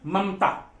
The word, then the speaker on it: ममता: और कभी भी आप देखे होंगे, सुनते होंगे ममता, ममता, ममता, तो ये बीच वाला म शॉर्ट बोलते हैं, हाफ बोलते हैं। हाफ लिखा तो नहीं मैंने यहां पर, लेकिन आपका जो उच्चारण होता है, जो प्रोनाउंसिएशन होता है, वो आधे का होता है।